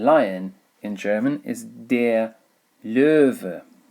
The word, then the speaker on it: Löwe: And lion in German is der Löwe. Löwe. Okay, the W pronounced as a V sound, Löwe.